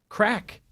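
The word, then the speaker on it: craic: Timothy says it is pronounced crack.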